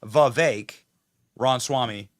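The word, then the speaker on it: Vivek Ramaswamy: to say his name the correct pronunciation is V Ron Swami uh how does Trump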